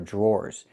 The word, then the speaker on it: drawer: The dr makes a J sound like in juice and jump. Plus the R. J. Then we have the or sound like more in door.